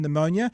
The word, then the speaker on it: pneumonia: the silence it's like a silent p in pneumonia there's a silent yes